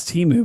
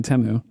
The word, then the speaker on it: Temu: over again it's wild I thought it was Teemu but it's apparently temu anyways um okay so